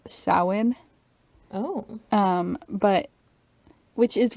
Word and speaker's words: Samhain: but it was called samhain oh um but which is really weird when you read the word like you're looking at it spelled it does not look like it's pronounced sahwin really yeah it's pronounced